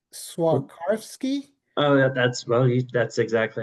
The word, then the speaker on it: Swarovski: I think it's pronounced Swarovski.